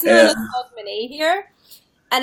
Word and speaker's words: Hogmanay: I was gonna say hogmanay.